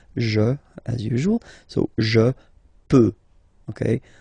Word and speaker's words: peux: as usual, so je peux, okay? Final x not pronounced here, okay? So you get x, but you don't pronounce it, so basically you get the sound peut, je peux, okay?